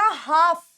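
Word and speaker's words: half: हमेशा साइलेंट होता है, LF हमेशा साइलेंट होता है। तो ये वर्ड क्या बना? ये वर्ड बना हाफ, ये वर्ड बना हाफ, हाफ नहीं, हाफ, हाफ, ठीक है, क्योंकि LF साइलेंट होता है।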